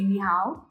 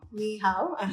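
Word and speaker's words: 你好: If you want to say hello, you say ni hao. Ni hao. Yes, ni hao.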